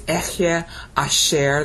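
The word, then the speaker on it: אהיה אשר: Because the sacred tetragrammaton is Echye Asher, that's how you pronounce the word highlighted in blue.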